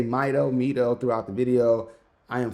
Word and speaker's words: Mido: But Mido actually have been using this particular TV style case since the 70s.